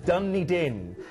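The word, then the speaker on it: Dunedin: actually pronounced my producer she's going how' you pronounce this uh dunny din um and this is hailed as the Edinburgh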